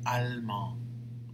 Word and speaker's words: allemand: So, je suis allemand. Je suis allemande. You see how you don't pronounce the E, but the last consonant you have to pronounce in the feminine version. In the masculine version, you don't.